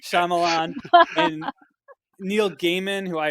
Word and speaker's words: Shyamalan: wes craven and clive barker and m knight charlemagne i knew i was going to say his name wrong m that's like shyamalan and neil gaiman who i am so that's